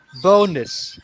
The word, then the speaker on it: bonus: third or fourth syllables and the emphasis is on the first syllable so it kind of loses its emphasis so we say bonus bonus bonus bonus so